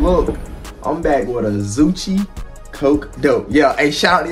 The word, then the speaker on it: Zoocci: And y'all told me how to pronounce it is Zoocci. It's pronounced like Gucci.